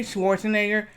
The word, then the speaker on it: Schwarzenegger: and my mom said, can you say Schwarzenegger? I said, no. He said, pronounce it Schwartz. I said, Nager. And I was like, okay, that's how you say it.